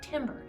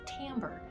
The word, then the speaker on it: timbre: it's not totally weird it looks like it should be pronounced timber but it's actually pronounced timbre while i was doing